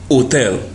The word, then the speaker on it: hotel: and is usually silent wherever you find the Spanish H it is not pronounced it is silent just like in the word Hotel the correct pronunciation in Spanish is Hotel the Spanish J is